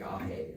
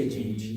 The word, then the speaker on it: age: I think it pronounces it like Ahe or something like that, but I say Age.